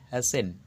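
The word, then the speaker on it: hasten: কোথায় কোথায় সাইলেন্ট থাকে এইচ এস টি এন হ্যাসেন টি এর উচ্চারণেই তাড়াতাড়ি করা এল আই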